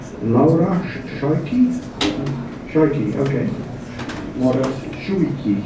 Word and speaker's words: Schuiki: Laura Schuiki? Schuiki, okay. What else? Schuiki, okay, yes, yeah, there was a Dutch pronunciation.